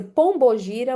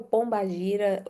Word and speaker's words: pombagira: ler o da pombagira, pode ser pombogira ou pombagira, as duas formas Mentira, tem várias pronúncias. estão corretas, tá?